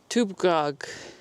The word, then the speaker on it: TBGG: Dougga derives from the Latin tuga, itself inspired by the Libyc word tbgg, which, according to the specialists of this language, should be pronounced as tubgag.